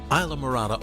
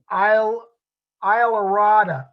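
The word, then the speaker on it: Islamorada: Now, and we certainly learned that my pronunciation was incorrect. We're going to the Isla Mirada, Isla Mirada, Isla Mirada. I have trouble pronouncing that still, but Isla Mirada looks like an intriguing place.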